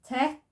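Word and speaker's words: ט: We've got the tet, which sounds as ta. Gives the same sound as the tav.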